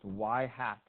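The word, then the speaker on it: ŷ: It's this Y hat, you know, pronounced Y hat.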